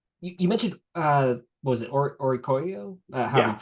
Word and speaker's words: Oricorio: You mentioned what was it, Orikoyo? However Yeah. you pronounce it. I don't know how to pronounce it. That's right, Orikorio, yeah.